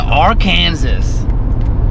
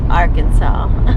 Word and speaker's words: Arkansas: truck welcome to R Kansas R Kansas R Kansas he means Arkansas do I do I